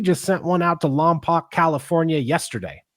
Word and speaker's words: Lompoc: In fact, we just sent one out to Lompoc, California yesterday. Think that's how you say it, Lompoc?